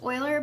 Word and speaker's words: Euler: I know this doesn't look like it would be pronounced Euler, but that's a famous mathematician, and that's how you pronounce his name.